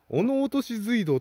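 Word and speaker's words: 落とし水道: 化けトンネルでお落とし水道つうんだ落とし水道と読みます落とされんのうん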